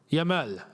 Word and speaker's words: Yamal: And even Yamal. Yamal is how you actually pronounce the name as well.